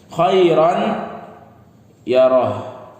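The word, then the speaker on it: خَيْرًا يَرَهُ: Kalau yang tidak pakai hukum tajwid, khairan, ada alif di sini. Kalau khairan yang tanwin fathatain pasti di sini ada alif pasti. Khairan yarah. Oke, khairan yarah. Alif ini nggak usah dihiraukan. Alif ini nggak usah dihiraukan, tidak dibaca karena di Al-Qur'an begitu tulisannya ya.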